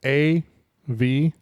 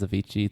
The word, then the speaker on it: Avicii: Can you spell that? I'm singing it in my head right now. Avicii is A-V-I-C-I-I.